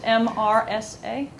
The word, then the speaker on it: MRSA: Would you spell that? Isn't that M-E-R-S-A? It's just MRSA. M-R-S-A.